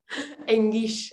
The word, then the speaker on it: Enguix: ¿Cómo debo de pronunciar tu apellido? Engish.